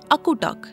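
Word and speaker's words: akutaq: It is called akutuk. And how do we spell it?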